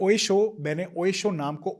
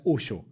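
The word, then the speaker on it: Oesho: I called this Oye Show Oye Show because that's how it is written, it is pronounced as Osho.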